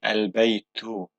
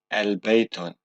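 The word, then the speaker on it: البيت: sound at the end but here because we have the particle al which means the we don't need that and we so we say albeit to not albeit on okay so here we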